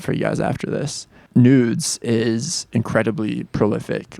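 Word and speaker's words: NVDES: this artist out loud I think it just pronounced nudes but it's spelled nvde s all capital letters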